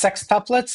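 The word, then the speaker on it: sextuplets: It's sexuplets and then septuplets would be seven.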